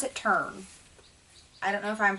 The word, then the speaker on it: Tern: I pronounce it Tern. I don't know if I'm pronouncing it wrong, and it's Terran. I pronounce it Tern. I don't care. It's T-E-R-N.